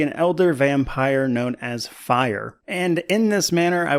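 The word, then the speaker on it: Phyre: for starters I think fire is a very weird name as it is spelled p h y re e and for me every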